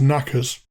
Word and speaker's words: knockers: leave this section light an alternative pronunciation of knockers down in cornwall is knackers which other parts the